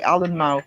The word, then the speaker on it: Alnmouth: But we have a town 3 miles away called Almouth, Alnmouth, and you do say the N in that. You say Allenmouth.